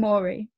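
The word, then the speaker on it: Mori: way through the books, people say things that rhyme in English with their names so that you know how to say them. So it's Kate and Maury.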